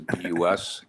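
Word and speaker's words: Kuskie: my name is last name is bus k-u-s-k-i-e pronounced okay and 332 Oakwood Drive okay um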